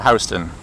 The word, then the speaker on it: Houston: the the large city in Texas, but we pronounce it Houston here in the city.